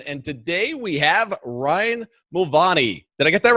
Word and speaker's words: Mulvany: today we have Ryan Mulvany. Did I get that right? Mulvany, but Mulvany is how you're supposed to pronounce it if we're in Ireland. So technically, yes. Right. The United States, no.